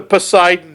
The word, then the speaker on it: Poseidon: I'm pretty sure, isn't that how you pronounce that? Le Poisson d'Ion Adventure? I am pretty sure you mean the Poseidon Adventure.